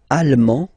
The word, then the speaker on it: allemand: L'Allemagne, allemand, allemande. Okay, same thing here. Okay, you don't pronounce the final D, but then you pronounce it here for the feminine form.